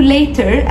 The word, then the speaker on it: later: او ممكن تقول يلا اشوفك تاني، اشوفك تاني دي اسمها سي يو ليتر، سي يو ليتر، see you later او see you later.